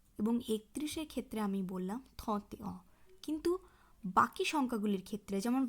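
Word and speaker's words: trente et un: এই বিষয়টি একটু মাথায় রাখতে হবে যে শুধুমাত্র 21, 31 নয়, 41, 51, 61 এই সংখ্যাগুলির ক্ষেত্রেও মূল সংখ্যার সাথে যুক্তভাবে সংখ্যাটির উচ্চারণ হয়। অর্থাৎ ভতে অ, থতে অ, ক্যাহতে অ এইভাবে উচ্চারণ হবে।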